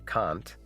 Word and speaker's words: Kant: Pronounced the same way as a feminist writer, as in Kant. There's also Immanuel Kant, the philosopher.